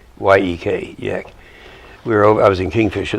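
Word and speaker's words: Jech: It's pronounced, it's J-E-C-K, but it's pronounced Y-E-K, Yek.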